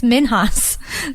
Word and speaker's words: Minhas: with my biological father so I actually pronounced it - for like most of my life until I found my family it's minhas oh yeah and close